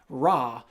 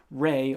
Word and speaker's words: Ra: the Egyptians chiefly worshipped the sun god Ra, which is actually pronounced Re or Re.